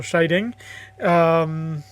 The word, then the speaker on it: Scheiding: Scheiding. For those of you who don't know me, my last name is pronounced like someone being shy and then the sound of a bell ding, so Scheiding.